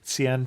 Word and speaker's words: Xi'an: to us from Los Angeles to talk about Xi'an, China. Brook, welcome to the show. Thanks for having me. I appreciate it. And just in case somebody doesn't know what we're talking about, can you put Xi'an on a map?